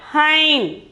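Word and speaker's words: हैं: Okay, here ve kate hain. See, here we can see a bindu. This is hai, this is hain. Hain, the pronunciation is hain.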